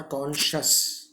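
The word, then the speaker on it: conscious: यहाँ पर जैसे SCI, तो ये SC और I को श प्रोनाउंस करेंगे हम, ध्यान रखिएगा। कॉन्शियंस और कॉन्शस, कॉन्शियंस, कॉन्शस, ऐसे आप लिख लीजिएगा। प्रोनाउंसिएशन भी कॉन्शियंस, श आधा ना और स पूरा। कॉन्शस, कॉन लिखने के बाद श और स।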